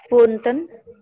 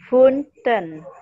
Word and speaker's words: fünften: Funten. Funften. Ya, funf, pakai F-nya itu funften.